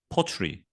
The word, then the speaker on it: pottery: 하지만 영국식 표기법 으로 읽을 때 는 이 모음 을 발음 하지 않습니다 . 여기 . 그럼 발음 은 어떻게 들리나 요 ? " 테리 " 가 아니라 " 트리 " 일 겁 니다 . 그러므로 이 도자기 를 영국식 으로 읽으면 다시 " 포트리 " 라고 읽게 됩니다 .